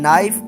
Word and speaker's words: knife: honorable man read me some words have initial consonants which are not pronounced for example K in knife w in rap etc it is his